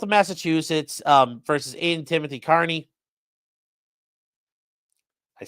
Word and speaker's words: Kearney: So it's Commonwealth of Massachusetts versus Aiden Timothy Kearney.